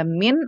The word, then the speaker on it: mean: Ada min atau rata-rata, bacanya jangan mean ya.